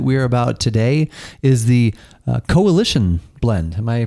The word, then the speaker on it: Cohhilition: And the beverage that we're about today is the Cohhilition Blend. Am I pronouncing that right?